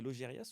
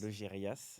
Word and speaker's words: Laugerias: Alors, c'est Logérias ou Logéria? Logérias. Logérias. Un peu du sud-ouest, alors on prononce C'est quelle tout.